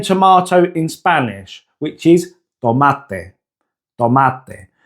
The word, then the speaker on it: tomate: But now try saying tomato in Spanish, which is tomate, tomate. Put your hand to your mouth and ensure that no air comes out as you say it.